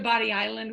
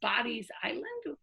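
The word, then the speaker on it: Bodie Island: north of us to body island which which oh here is called bodies island it was sometimes written d-o-d-y apostrophe s sometimes b o d i e s to this day it maintains the i e so any third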